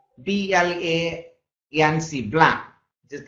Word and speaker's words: blanc: Let's start with one which is says BLANC, blanc, which is pronounced as a blanc, which means white.